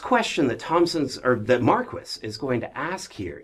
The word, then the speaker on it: Marquis: Yes, it's Marquis, not Marquis. I don't I don't know he knows how to say his own name, I assume. Um, so it's Marquis.